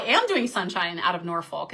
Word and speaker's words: Norfolk: I always people always say you say it wrong. It's like Norfolk, which I love the f word, so I should have no problem saying that. Norfolk.